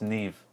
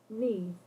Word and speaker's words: Neve: That's Neve. Neve. I was about to say Nim.